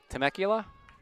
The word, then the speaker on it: Temecula: Marin from I'll get her dad's pronunciation of the hometown. You're dipping. Temecula.